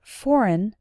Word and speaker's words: foreign: Note that the letter G in the word foreign is silent.